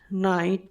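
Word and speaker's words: knight: এক্ষেত্রে কে এর উচ্চারণ সাইলেন্ট থাকবে। যেমন নলেজ, নাইট, নি।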